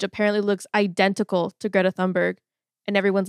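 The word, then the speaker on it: Thunberg: you say her name I've heard thundberg but I think it's toonberg has not been doctored that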